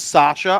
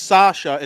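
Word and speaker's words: Sacha: I do know it's Sasha. I know it's spelled Saka. Boisvert. It is Sasha. So it's got to be Sasha Boisvert.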